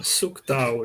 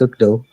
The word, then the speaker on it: Suktau: Suktau, is that correct? Am I getting the Yeah, surname? somewhat. It's pronounced Sukdo, but yeah, it's fine.